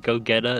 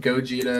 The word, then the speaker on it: Gogeta: like how I got goeta and V I like that you're pronouncing both of those terribly wrong are those actual people yes yeah Vegeta and then Gogeta is their Fusion H